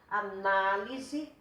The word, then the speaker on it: análise: Agora, só para dar uma parte aqui, olha a diferença. Analise, a sílaba tônica está aqui. Receberá, a sílaba tônica está aqui. Secretaria, a sílaba tônica está aqui. Mudando a sílaba tônica, muda o sentido da palavra, tá?